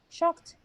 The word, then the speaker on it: shocked: yeah relaxed relaxed scared yeah shocked one syllable relaxed relaxed relaxed maybe relaxed at the second line and shocked with one syllable okay so let's remove